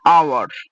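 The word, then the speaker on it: hour: She turned after an আওয়ার, she returned after an আওয়ার, তো এখানে ও এইচ এর উচ্চারণ হবে না, এটা উচ্চারণ হবে আওয়ার, ও দিয়ে শুরু হচ্ছে, তার জন্য এখানে এন হবে।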